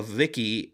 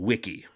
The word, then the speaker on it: Wicky: I keep saying Tom Hogurt always calls it Vicki, but he pronounces his name Wiki. So I want to make sure that I'm saying it right.